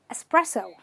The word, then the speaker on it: espresso: another word which is espresso espresso okay there is an x over here but this x is only meant to confuse you don't pay attention to